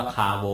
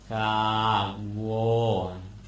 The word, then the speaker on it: คาโว: ต้อง ออก เสียง ว่า คาโว อยู่ นั่น แหละ ออก อย่าง อื่น ไม่ ได้ อีก แล้ว คา โอ คะ อาวะ โอ คาโว ต้อง ออก เสียง อย่าง นี้ แหละ คาโว คาโว วัว หลาย